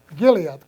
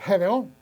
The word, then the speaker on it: Gedeón: Cuando Dios fue y le habló a a Giliat, ¿cómo se dice? Gedeón.